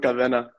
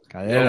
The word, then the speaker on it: Cadena: And I've never, I've seen your name around, but is it Cadena? How do you pronounce it? Hey, you can run with Cadena. That's the way to say it. Cadena.